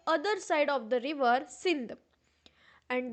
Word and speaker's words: Sindh: and Indians were called Hindus by the Muslims. The Muslims saw that the Indians lived on the other side of the river Sindh, and the Muslims pronounced Sindh as Hind.